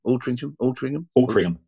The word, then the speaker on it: Altrincham: Is it Altrincham? Altrincham. Yeah. I grew up thinking it had a G in it.